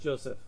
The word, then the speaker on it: Joseph: It's pronounced Joseph.